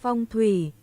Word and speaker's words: Phong thủy: Feng shui is a Chinese term. Let me see how they pronounce it. We should, Feng Shui. Feng Shui. Feng shui. And in Vietnamese, it sounds like this. Phong thủy.